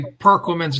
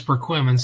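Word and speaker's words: Perquimans: Um, people say Perqu women's. No, it's Perquimman's.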